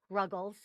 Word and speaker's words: Ruggles: which is ruggles rhymes with snuggles smelled like snuggles dot